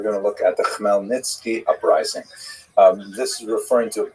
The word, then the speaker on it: Khmelnytsky: And it's sometimes spelled in Roman characters with the Polish spelling, making it look something like Khmelnyki. It's actually pronounced Khmelnytsky, with a guttural at the beginning.